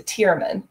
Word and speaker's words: Tearmann: we pronounce it to Tearmann, because the Irish language doesn't have the sharp T sound.